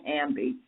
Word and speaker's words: Ambe: that are listening in this is Dr Ambi and I am pronouncing that correct is that right yes you